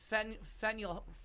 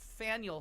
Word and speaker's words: Faneuil: Philadelphia and then uh fenuel Faneuil Hall which rhymes with Daniel is what I confuse